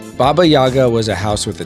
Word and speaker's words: Baba Yaga: right Neko says and it's pronounced Baba Yaga but then again that might have been too hard well I no you see you think so but baby Yaga is the Francisco lore pronunciation and I am king of